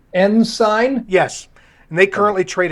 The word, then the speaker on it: Ensign: That's pronounced Ensign?